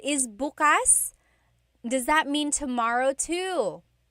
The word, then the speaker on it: bukas: depending on the context or depending on the pronunciation. If you say buas the emphasis is on the second syllable that means open. If you say buas emphasis is on the first syllable that means tomorrow.